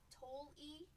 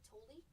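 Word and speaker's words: Tolle: How do you say this? Toli. Rhymes with guacamole. Toli.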